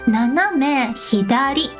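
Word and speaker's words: 斜め左: Naname hidari. Naname hidari. Naname hidari. Perfect. And your D pronunciation is amazing too.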